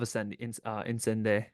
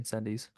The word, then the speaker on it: Incendies: Arrival's A tier for me, but it's above Incende, or however you say it, Incendies. I think it's pronounced on Sunday, but I always say Incendies because On any given Sunday.